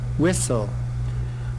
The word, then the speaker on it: whistle: is West also Wessel T in here is the silent consonant next one rhyme rhyme